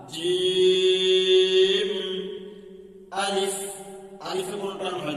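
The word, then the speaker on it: جيم: বলেন আলিফ বা তা জিম জিম জিমের উচ্চারণ জিমের মাঝখান উপরের তালুতে লাগবে এইভাবে বলেন একটু শক্তি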